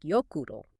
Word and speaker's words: Jökull: And O is pronounced like oo, as in zoo. And that's the key to Jökull and Snæfellsjökull. It's more like Jökull.